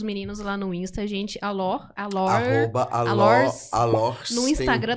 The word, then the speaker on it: Alors: Alor. arroba Alors. Alors. No Instagram tá Alors. Isso, tem um S tem no um final, S. gente. Tem o S no final, mas não pronuncia.